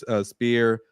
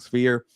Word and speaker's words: sphere: Tuesday banga Canelo uh you spear or sphere I keep saying it wrong sphere uh that's a tough